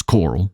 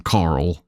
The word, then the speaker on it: Coral: By the way, it's Coral, C-O-R-A-L. It's not me pronouncing Carl like Rick Grimes.